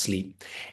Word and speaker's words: Sliip: So the practice name is Sleep, spelled SLIIP, but it's pronounced sleep.